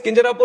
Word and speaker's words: Kinjarapu: And my name is Kinjarapu Ramohan Naidu. And when some people say Kinjarapu, there might be some problem with them. They can't pronounce it the way I pronounce it.